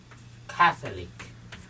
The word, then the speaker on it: Catholic: Catholic. Một cái là Catholicism, một cái là Catholic, chúng ta nhấn vần 1.